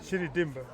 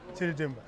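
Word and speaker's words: Chidi Dimgba: My name is Chidi Dimba, and the first name is C-H-I-D-I, last name Dimba, D-I-M-G-B-A. So it's easy to pronounce without the G, without the good part, but it's Chidi Dimba.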